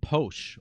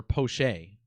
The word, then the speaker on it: Poche: Shohei's grand slam came off of pitcher Colin Poche, or Poche, as it's properly pronounced.